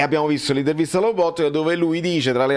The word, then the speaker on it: Lobotka: Ecco, in questi giorni abbiamo visto l'intervista a Lobotka, non si dice Lobotka, si dice Lobotka perché lo dice lui stesso, quindi Bobotta lo possiamo